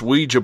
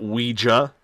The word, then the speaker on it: Ouija: He has the largest Ouija board collection in the world. I like to call it Ouija, not Ouija. Ouija. At least that's the way Robert pronounces it, so that's what we're going with.